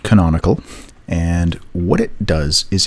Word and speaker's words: canonical: you may have seen or may not it's pronounced canonical and what it does is it tells browsers